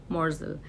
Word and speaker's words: morsel: तो that is called मोर्जल, MORSEL, मोर्जल। देखो some people जो जहाँ तक स्पेलिंग्स की बात है, MORSEL भी ठीक है और MORZEL भी ठीक है।